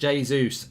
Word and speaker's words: Jesus: We always seem to catch City in a It's pronounced Jesus.